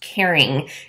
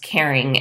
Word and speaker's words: Karyn: discovered that it's pronounced caring it's caring Grossman and she did kind of a play on her name so it's supposed to be pronounced caring and the bottle is